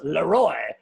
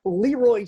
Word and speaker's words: LeRoy: So it's technically pronounced Leroy, but everybody calls me Leroy.